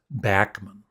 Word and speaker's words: Randy Bachman: Randy Bachman or Bachman. It is. I just saw a video yesterday, and he was saying that it actually is pronounced Bachman, but it doesn't matter.